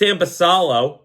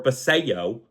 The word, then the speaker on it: Basallo: games then you have S basalo or baso I'm pretty sure that's how you pronounce it's Samuel baso uh my dumb mind just wants to keep saying basalo um so you know